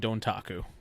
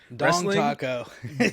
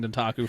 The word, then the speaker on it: Dontaku: Dong Taco. Dong Taco. So I'm going to spell it out for you. Ready? DONTAKU, all one word.